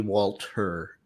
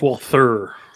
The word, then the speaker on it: Walther: Oh, speaking of hers, I think Walter might be Walter. Walter. No, it's Walther.